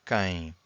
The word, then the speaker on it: quem: So this U here is silent. So quem.